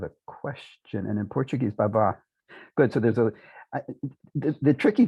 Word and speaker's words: baba: So it's in Turkish, it's accented on the second syllable, baba, and so also in Albanian, Romanian, and Greek.